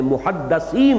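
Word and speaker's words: مُحَدِّث: رسول کی امت میں محدثین ہوتے ہیں۔ اس لفظ کو اچھی طرح صحیح تلفظ کے ساتھ سمجھ لیجئے۔ محدث دال کے زیر کے ساتھ، وہ تو وہ علماء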